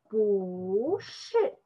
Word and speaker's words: 不是: After 不, the Chinese character is a first tone. So this time we cannot have a two first tone. It's difficult to pronounce it. So this time change 不, just the 不. So this time pronunciation is 不是.